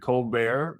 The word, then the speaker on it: ColBERT: I yeah I was I was surprised when Omar pronounced it cold bear because it was BT and then there Steven colar i' had heard him on the podcast with I think Christopher Manning from Stanford who had asked him about that so if Omar the creator of this pronounced colar unfortunately even though it's birt models I think called bear is what we're talking about but yeah from